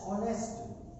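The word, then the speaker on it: honest: अगर मैं आपको सेंटेंस दे दूं, राम इज डैश ऑनेस्ट, तो इसमें क्या आएगा, कुछ बच्चे कहेंगे जी इसमें एन आएगा, इसमें एन नहीं आ सकता। अच्छा, एन का भी क्या लॉजिक है, एच साइलेंट है, इसलिए ओ, बचपन में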